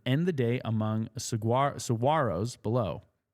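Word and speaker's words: saguaros: the day among sigar saros below. Got to not pronounce the G.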